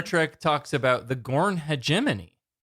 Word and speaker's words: hegemony: Um I hegeimony is what I've always called it. But new Star Trek talks about the Gorn Hegemony, right? Hegemony. It's a soft G like GIF and GIF.